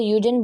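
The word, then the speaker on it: Auden: WH है ओडेन लिखा हुआ, वैसे यूडेन बोलते हैं, ए साइलेंट होता है।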